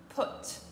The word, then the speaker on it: put: Ici, on est sur une toute autre prononciation. On dira put.